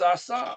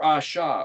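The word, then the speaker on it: עשה: You shema, shomer, and asa, or asha, or oseh. That ayin shin hey can be pronounced either of those three ways.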